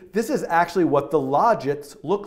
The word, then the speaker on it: logits: And a lot of places said logits, and some other places said logits. I'm going to go with logits, like logic or logical. But you can see this is actually what the logits look like.